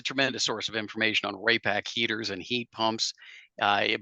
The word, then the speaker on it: Raypak: RayAC is spelled R A Y P A K. Don't put a C in there.